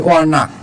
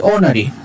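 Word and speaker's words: ornery: এরপরে চলে আসে অর্না, হ্যাঁ, এটার উচ্চারণ হচ্ছে ওনারি, ওনারি, অর নারী না, ওনারি।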